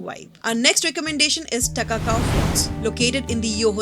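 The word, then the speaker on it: Takakkaw: Takakau, apparently pronounced as Ta-ka-kau, means it is wonderful in the local Cree language.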